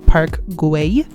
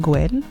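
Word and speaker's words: Park Güell: want to point out it's pronounced park gui not sure why i pronounced it gwen so i'm gonna say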